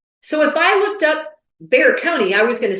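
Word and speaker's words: Bexar: That is not how it's spelled. It has an X in there.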